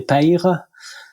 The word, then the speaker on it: Peyre: Je prononce bien, on dit Père, c'est ça? On dit Père, ouais, c'est ça. On dit Père, parfait. Ouais. Dans le sud-ouest, il dit Père.